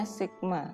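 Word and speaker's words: σ: Miu dan standar deviasi ini dibacanya Miu ini dibacanya Sigma Hai atau ini merupakan apa rata-rata dan Sigma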